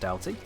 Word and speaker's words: Doughty: It is definitely pronounced Doughty. I hate the fact that it is, but it is pronounced Doughty.